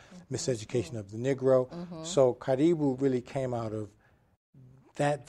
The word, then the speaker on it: Karibu: Bowie Town Center, you had to stop at Karibu. Say it one more time. Karibu. Karibu. You need to say Karibu. Am I saying it right? Yeah. Karibu. But was that your intention? Yeah, it really, Karibu really came out of my involvement and my